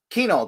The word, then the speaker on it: Kuehnel: In Warren, Michigan, the man himself, Matt Kuehnel.